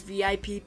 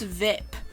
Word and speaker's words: VIP: What's VIP? Ike asks. He pronounces the acronym as a word rhyming with zip.